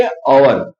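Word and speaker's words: hour: लेकिन इसका जो प्रोनाउंसिएशन है इसका जो उच्चारण है वो अ से होता है। ओके? हम क्या बोलेंगे? अवर।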